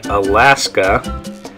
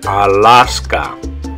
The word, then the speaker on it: Alaska: In English, you would say Alaska. But in Spanish, like I said, all those A's are going to make the same sound. Ah. It's going to be ah, ah, ah. So in Spanish, you'd say Alaska.